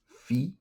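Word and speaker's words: phi: This is pronounced fe.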